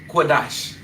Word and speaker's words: Qadash: So being that they are conjoined you would drop that A off of sha and you would pronounce it dash. So Lashawan Qadash, okay?